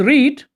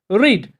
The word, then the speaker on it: read: Their spelling in all the three forms is same, but their pronunciation differs in the second form and in the third form.